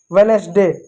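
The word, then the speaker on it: Wednesday: उदाहरण वेडनेसडे वेडनेस डे वेडनेसडे। तो यहां पर क्या डी साइलेंट रहा हैंड हैंनक करीफ इसको हैं करीफ बोल।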